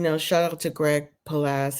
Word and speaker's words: Palast: out to Greg palas his last name is spelled p a l a s t do watch his videos on youtube Greg palas PA a a l a s t past like pal and last and but just one